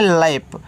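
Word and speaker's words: lap: आगे है एल ए पी तो इसको पढ़ते हैं लैप तो देखो जब दो कंसोनेंट्स के बीच में ए हो तो ऐ की मात्रा के रूप में उच्चारण तो एल से ल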